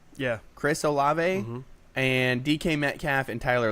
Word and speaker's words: Olave: Is it pronounced Olave? Yeah. Chris Olave and DK Metcalf and Tyler Lockett.